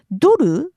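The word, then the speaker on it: ドル: Now, duru is the Japanese pronunciation of the word dollar. I know it sounds very different, but there's no h sound in Japanese. So, the only way we can say it is dur.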